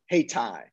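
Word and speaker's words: Hayti: named around 1876 uh in durham is called haitai that's how it's pronounced courses spelled in the 19th century spelling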